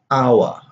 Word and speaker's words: hour: So we have hour, 1 hour, an hour, honest, an honest person. You don't have the H sound here.